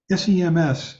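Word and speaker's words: སེམས: The vowel E, Tibetan letter M, and the Tibetan letter S again, even though the final S is not pronounced.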